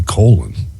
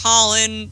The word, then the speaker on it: Colin: parents didn't name me colon hey in Irish culture it's pronounced Colin so I don't know